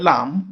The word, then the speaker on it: lamb: In this word, the letter B is silent. That is, it is not pronounced. So in the word lamb, the last sound is M. B is not pronounced. And therefore, the word is pronounced as lamb.